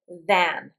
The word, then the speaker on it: than: than Notice it's an A. We pronounce it than, but that's very difficult difficult to hear if it's if you think it might be this.